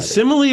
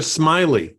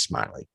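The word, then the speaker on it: Smilie: Pruitt Taylor events played the uh is it simile or Smiley I always thought it was smiling I'm sorry you're right it is smiley which is kind of a creepy name for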